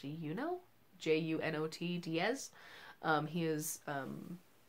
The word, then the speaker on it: Junot: And then I'm also reading The Brief Wondrous Life of Oscar Wao by, I'm gonna say his name is pronounced Junot, J-U-N-O-T Diaz.